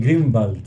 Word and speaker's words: Grunwald: interesante A ver entonces la forma correcta de pronunciar tu apellido es grun Wal la forma en verdad correcta de pronunciar mi apellido es no tengo idea cómo se dice es en alemán se dice grenald grenal grenald tiene dos